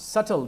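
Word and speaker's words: subtle: सटल, देखिए word आया है सटल ह्यूमर, बी साइलेंट है, सटल ह्यूमर, एक माइन्यूट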